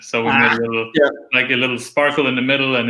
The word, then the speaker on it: SPRK: Right, so we made a little sparkle in the middle, and it's spelled SPRK, and it's, you always have to explain, like Spark, right?